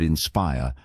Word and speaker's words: inspire: For example, in the word inspire, the stress is on the second syllable.